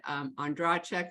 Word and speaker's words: Ondracek: My last name is pronounced in a million different ways. I was taught Ondracek, so that's how I say it.